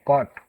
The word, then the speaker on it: caught: In the word caught, there we can see G and H is silent. Okay, G and H are silent. We said caught.